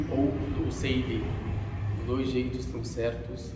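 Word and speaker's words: الأسيدي: chamado Hanzala ibn Rabi' al-Usaydi. O nome dele é pronunciado al-Usaydi ou al-Usaydi. Os dois jeitos estão certos de pronunciar, mas o mais certo é al-Usaydi, ou seja, com al-ya al-mushaddada.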